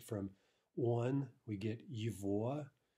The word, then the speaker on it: его: From one, we get yivoa. Note the pronunciation yivoa, right? The g is pronounced like a v.